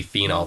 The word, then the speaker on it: phenol: It's just going to be phenol, Phenol. All right, so even when you're saying that name, really try to pronounce that OL so you don't get confused with phenol, Phenyl.